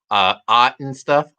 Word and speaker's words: Ot and Stuff: So Clint, I want to thank you for joining me tonight, and we'll be back tomorrow on the Ot and stuff. That's how it's pronounced.